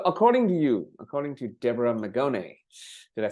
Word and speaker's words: Deborah Magone: So according to you, according to Deborah Magone, did I say it right?